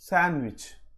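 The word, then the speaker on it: sandwich: హ్యాండ్కర్చీఫ్, శాండ్విచ్.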